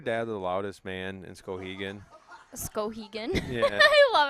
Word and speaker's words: Skowhegan: Is your dad the loudest man in Skowhegan? Skowhegan. Yeah. I love how you say Skowhegan. Right? Scow. You got to do you say scow.